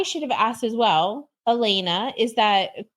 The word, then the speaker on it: Alena: you know I should have asked as well Elena is that correct pronunciation perfect um it's so nice to have